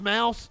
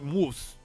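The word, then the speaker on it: Maus: and a naked illustration it's pronounced mouse okay i didn't know if it had like a german like moose moose graphic novel mouse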